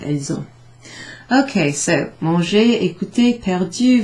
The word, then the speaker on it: elles ont: If they're not hesitating in their speaking, you'll hear it with this sort of Z sound. Elles ont.